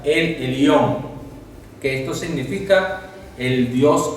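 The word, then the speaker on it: אל עליון: Vemos también que ella expresó siervos del Dios Altísimo, que en hebreo quiere decir, se pronuncia el Elión, que esto significa el Dios absoluto, el Dios soberano, el soberano Dios.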